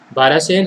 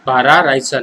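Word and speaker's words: भराड़ीसैंण: तो समर की तो नई कैपिटल है हमारे पास क्या है, बारासेन है, सॉरी बारासेन नहीं, बारा रायसन है, बारा रायसन, sorry for the pronunciation, it's बारा रायसन।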